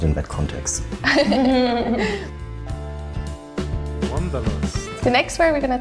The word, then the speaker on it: Wanderlust: Instead of saying V, we say the W, Wanderlust.